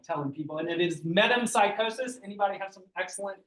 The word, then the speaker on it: metempsychosis: That's the word that you probably really like telling people, and it is metempsychosis. Anybody have some excellent pronunciations of that that you're willing to share.